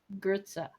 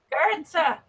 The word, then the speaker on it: Goetze: Yes, it's pronounced Gertza. That sounds German. Is that German? It is. Gertza is German. Gertza. I am Gertza. It's spelled Goetze. It's pronounced with almost an R.